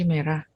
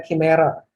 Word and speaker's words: chimera: Yang Cimera. Ya, semuanya. By the way, dibacanya Chimera.